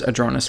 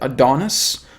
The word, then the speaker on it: Adronis: Is it Adronis, or is it Adonis, or is it Adronis? I say, well, how do I spell it in the videos, guys? A-D-R-O-N-I-S. That's how you pronounce it.